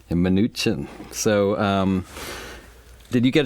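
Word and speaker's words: Mnuchin: treasury secretary Steven minuchin I learned how to pronounce it this way minuchin minuchin so um did you get a chance to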